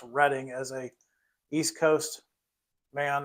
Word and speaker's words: Reading: see reading flat cars and yes it is pronounced reading as a East Coast man I know how to pronounce reading it's not the other word all right um